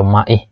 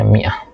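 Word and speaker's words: مائة: Jadi ini bacanya bukan ma'ah ya, atau ma'ih, ini bacanya mi'ah.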